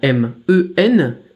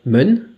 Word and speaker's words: 们: bien on a M-E-N, M qui se prononce comme en français M, E qui se prononce comme en français E, et N qui se prononce comme en français N. Ça va faire men, men, et il n'y a pas de ton, du coup c'est plutôt facile.